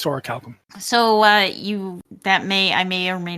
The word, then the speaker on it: orichalcum: Some people pronounce it orichalcium, but it's orichalcum.